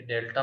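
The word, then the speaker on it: delta: ये डेल्टा pronounce करते हैं इसको, ए डेल्टा बी, सिमेट्रिक डिफरेंस कहते हैं।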